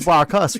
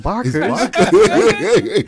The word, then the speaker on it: Barkers: It probably it's Barcas, right? Not Barkers.